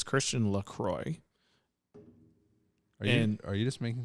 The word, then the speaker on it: LaCroix: Midwestern through and through down to its pronounce pronunciation Lacroix is how you pronounce it by the way